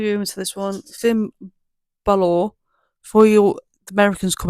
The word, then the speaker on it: Balor: So you might be But I'm saying how I say it because I am an English person is bal. So I say balor but it I think it actually could be ba not Baylor but a lot of Americans say Baylor but I think it's probably Balor not Bor or Balor Balor cuz I say balor thim balor but I don't I don't know if that's just my brain making me say